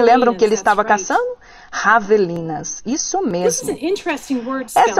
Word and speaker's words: javelina: Javelinas, isso mesmo. Essa é uma palavra interessante na ortografia, o espanhol J para javelina. Isso é pronunciado com som de H.